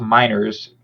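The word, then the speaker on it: Meinerz: Apparently, Broncos guard Quinn, I believe his last name is pronounced Miners, had to be hospitalized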